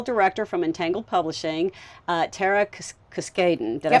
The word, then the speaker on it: Cuskaden: I'm here with Editorial Director from Entangled Publishing, Tera Cuskaden.